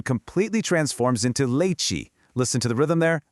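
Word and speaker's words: leite: comes right after a T creates a cheese sound. So, te becomes chi. Put them together and you get that really nice bouncy leiche.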